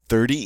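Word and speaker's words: trente: 30 is 30. 30. So we have this nice EN sound, en. We get to pronounce the T because it's followed by an E. So it is 30.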